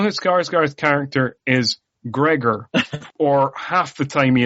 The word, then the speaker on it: Gregor: credits like how is it spelled is it g-r-i-g-o-r and everybody on the English side is pronouncing it wrong or g-e-r-g-o-r um it turns out it is g-r-e-g-o-r-3 is a Gregor not a grigor but um